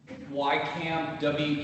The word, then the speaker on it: Weykamp: Yeah, Greg Madam Wycamp. Chair, it's YCAMP, WEYKAMP.